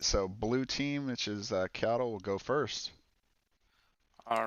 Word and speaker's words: Qiotl: Qiotl? Yeah, Qiotl, it's fine, yeah.